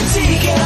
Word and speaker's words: ADIKA: It's coffee talk with ADIKA. Nothing rhymes with that but chicken tikka.